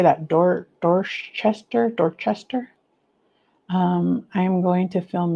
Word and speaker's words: Dorchester: I'm in Dorser. How do you say that? Dor Dorchester. Dorchester.